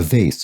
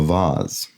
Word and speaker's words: vase: have a container whose name is pronounced with either a long a or an ah a vase or a vaz there we go and